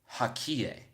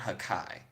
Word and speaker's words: Haki: And then he said, no, it's pronounced Hakie. So it's not Hakai.